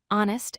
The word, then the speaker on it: honest: First, words with silent H we use n before hour, honest, and honor because the H is silent.